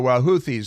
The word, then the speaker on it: Houthi: So Houthis, I say Houthi. If you want, you're going to put TH in there, I'm pronouncing it like Houthi, because that's a good.